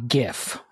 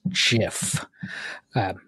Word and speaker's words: GIF: think would be to how properly to pronounce GIF yeah I don't know how to do that it's it's not it's not GF as lots of young people say but it is GIF U as as specified by the creator of